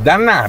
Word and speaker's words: D'Anná: Eh sì, Dannà, di apostrofo Annà, con l'accento sulla A. E il nome? Mi chiamo, io ho detto, qua mi conoscono tutti. Allora, lei è Dannà.